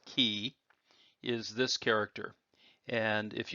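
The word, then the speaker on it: 气: Well, we're left with this character without the rice in the middle, and it by itself would be pronounced as ki.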